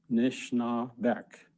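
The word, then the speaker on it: Anishinaabek: Here are some of them and their correct pronunciation. Toronto. Toronto. Nishnabek. Nishnabek.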